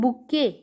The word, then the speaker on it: bouquet: bouquet की spelling होती है BOU बू और QUET होता है K. बू एंड K, जो ET है लास्ट में वो साइलेंट होता है, इसको बोलते हैं बुके.